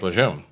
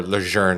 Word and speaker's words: Lejeune: like Camp Lejeune or Lejeune as my mother would say my mother's from Quebec so for most of my life that's the only thing I heard until recently when they started promoting the correct pronunciation of the uh of Camp Lejeune but to me it's still Camp Lejeune yeah there's no R in there anyways like I said